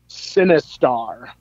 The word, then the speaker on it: Sinistar: you remember this game sinistar does that sound familiar to you no how do you spell it s-i-n-i-s-t-a-r like sinister but with a star oh wow i am